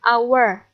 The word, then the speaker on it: hour: Hai kemudian ane performancemanager10 meskipun tulisannya hower ya tapi kita bacanya dengan our haknya tidak dibaca jadi kita membacanya Hai karena membacanya adalah our jadi termasuk bunyi vokal jadi yang kita gunakan